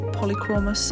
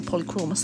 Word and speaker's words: Polychromos: already swatched my original Polychromos that I have, or Polychromes, I don't know how they pronounce it, I think it's Polychromos, that's how I'd say it anyway.